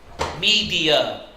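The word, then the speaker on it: Medea: Media. And you spell that M-E-D-E-A.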